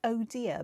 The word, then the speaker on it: Odir: 2018 and it's called it's pronounced oh dear but it's spelled odir and i'm wondering whether